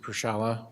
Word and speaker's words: Pasala: extraction oil and gas and it's pronounced pasala pasala did I say that right very very close brother say now you challenged me say it again pasala pasala yes sir okay all right